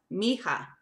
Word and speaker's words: mija: Mi-hija, it's M-I-H-I-J-A, pronounced mija, mija.